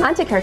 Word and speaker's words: Antiquaire: Am I pronouncing that right? Antiquaire, correct. Antiquaire, okay.